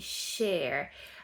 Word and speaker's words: share: Mais moi, j'entends parfois quelqu'un qui veut me dire partager, il va me dire chair comme la chaise. Mais non non non. Partager, ça se dit share.